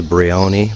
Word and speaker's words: Brion: uh Bion Cemetery uh locals say Bion but uh ilio who just showed us through called it Bon Yepi Bon is uh